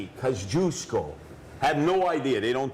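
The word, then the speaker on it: Kościuszko: Kosciuszko, and it's not Kosciuszko. Some morons out there think it's like the mustard. Hey, Kosciuszko mustard.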